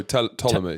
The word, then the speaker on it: Ptolemy: Yeah, it does, because I think there's a philosopher called how do you pronounce his name? Ptolemy, PT. Oh, Ptolemy. Ptolemy, that's the one.